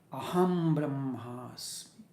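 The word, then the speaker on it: अहं ब्रह्मास्मि: But while we are intoning this particular sutra, we give importance to the syllable I am, Aham. Aham Brahmasmi. Aham, short, Brahmasmi.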